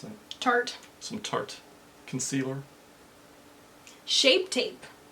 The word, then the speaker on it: Tarte: Some, how do you pronounce that? Tarte.